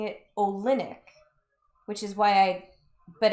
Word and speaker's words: Olynyk: I see Zach I want to call him Mister Olinick, not Olin Wait. It's It's three syllables. Olin Olinick, I believe.